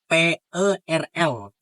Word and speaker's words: Perl: Dan yang keempat adalah Perl atau bahasa pemrogramannya itu PERL. Nah, bacanya adalah Perl.